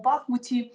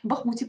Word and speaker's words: Бахмуті: ворожий обстріл у тектонічному бахмуті бахмуті Перепрошую правильний наголос потрібно ставити яка ситуація нині на